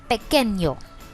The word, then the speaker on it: pequeño: The word for that is pequeño. Pequeño. Remember the tittle above n makes it sound like nyo.